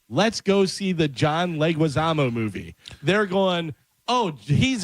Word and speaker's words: Leguizamo: I always trying to add a extra syllable in there, and I always go John Leguizamo. Leguizamo. Yeah, there you go.